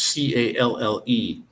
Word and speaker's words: calle: Um, Street is C-A-L-L-E, calle. You don't say the L's, it sounded like a Y. And yet when you have one L in there, then it's pronounced with an L. And the minute you double the L's, it's said as a Y.